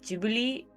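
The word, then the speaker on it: Ghibli: I thought it Studio gibli I usually say Studio technically in Japan they pronounce it like jubile but you know is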